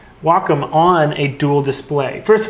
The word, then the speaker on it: Wacom: all say walkom now everyone says wcom sometime some people say wack or Wacom but it is Wacom so um I don't